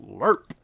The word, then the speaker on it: LRRP: of the Long Range Recon Patrol, which is pronounced LERP.